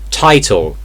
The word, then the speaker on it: title: Title, title. So you do pronounce the first T in the word. It only happens when it's like in the middle or the end of the word.